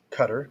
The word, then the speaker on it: Qatar: with the women 42 illiterate women and 251 katara women i didn't write that because we'd already defined those as a qatar up here cutter sorry so p w p hat is 0.17